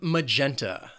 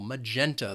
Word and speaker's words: magenta: Then we have magenta. This word has 3 syllables and the stress is on that second syllable, magenta. The first syllable has that schwa, that magenta.